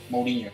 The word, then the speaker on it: Mourinho: Mason ya había dirigido 7 partidos en el 2021, luego de la salida de José Mourinho, creo que la pronunciación correcta. Mourinho, sí señor.